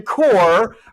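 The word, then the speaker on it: Kocher: Ladies and gentlemen, interim director of the Madera Arts Council, Jim Core, but it's not spelled Core. No. It's spelled K-O-C-H-E-R, but pronounced Core.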